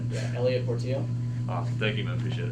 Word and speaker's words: Elliot Portillo: So if I have to pronounce it on TV, I can say it right. Yeah, Elliot Portillo.